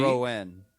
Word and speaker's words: Citroën: Citroën. Thank you, Mr. Frenchman, Yeah, for pronouncing that properly.